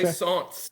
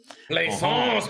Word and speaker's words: Plaisance: Plaisance is the Renaissance. Plaisance. Plaisance.